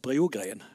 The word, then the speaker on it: Brogren: Jag vet inte riktigt hur ditt namn uttalas, men Julie Waras Brogren. Rätt så? Ja. Bra. Varsågod. Ja, tack så mycket. Ja, faktiskt mitt efternamn är ju svensk, så det var bra uttal, Brogren.